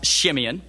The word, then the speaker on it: Simeon: there you know uh Simeon could be pronounced shiman or in other ways I still remember when